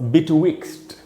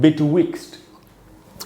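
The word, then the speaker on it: betwixt: उसके बाद वर्ड हमारे पास बिटविक्स्ट, ऐसे प्रोनाउंसिएशन है बिटविक्स्ट। इसमें जो स्ट्रेस है वो वी वाले ई पर है, यानी यहाँ पर ज़्यादा देर तक रुकना है, बड़ी ई की मात्रा लगाई है मैंने।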